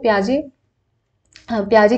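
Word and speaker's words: Piaget: पढ़ रहे हैं तो प्याजे की स्पेलिंग हमारी ये हो जाती है, ठीक है, टी हमारा साइलेंट होता है।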